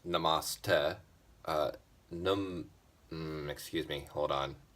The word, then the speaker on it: Namaste: Um, Yesterday at Nate on Steam It brought up the question of what is what does Namaste mean?